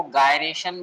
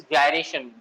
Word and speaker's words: gyration: कुछ लोग इसको गायरेशन बोलते हैं, कुछ लोग इसको जायरेशन बोलते हैं। एक्चुअल प्रोनाउंसिएशन जो है that is जायरेशन, radius of जायरेशन।